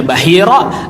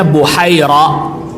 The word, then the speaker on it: Bahira: Ada yang bacanya Bahira, ada yang membacanya Buhaira.